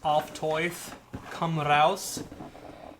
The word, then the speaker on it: Auf Teufel komm raus: So they're going to correct my pronunciation, but it's Auf Teufel, komm, raus.